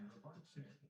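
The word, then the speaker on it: Rybarczyk: It's R Y B A R C Z Y K. It's one of those names. It's kind of cool, though. Ry Barczyk is how you say it.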